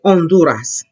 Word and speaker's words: Honduras: think about this one H is always here silent okay therefore I goe if I say Honduras Honduras and would you look